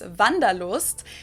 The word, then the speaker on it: Wanderlust: This is kind of an old-fashioned German word that we pronounce Wanderlust, and it's literally the desire to wander.